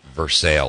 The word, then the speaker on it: Versailles: I think they call it Versailles or something, but it's actually spelled like Versailles.